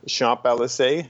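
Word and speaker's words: Champs-Élysées: it starts on the shop lsa is that how you say it yeah it starts there so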